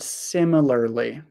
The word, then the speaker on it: similarly: Can you please help me with the pronunciation of the word similarly? Similarly. Similarly. So we um the final sound the final sound is lee. Lee. Similarly lee.